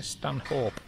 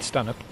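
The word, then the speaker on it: Stanhope: and you're looking on a map it'll see stanh hope um but it's pronounced Stan and I've just spoken to the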